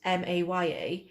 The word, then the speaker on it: Maya: So Maya, spelt Maya, when you pronounce it here, sounds like somebody that can't pronounce Mair, Mair, is trying to say that.